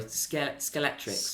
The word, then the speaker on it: Scalextric: Scalextrics. Is that how you say it? Yeah. Yeah. Sorry, Scalextrics. Scalextrics. That's how you say it. Yes. Scalextrics.